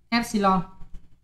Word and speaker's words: epsilon: Và cái hằng số điện môi ấy, người ta kiểu là E thế này, đọc là epsilon.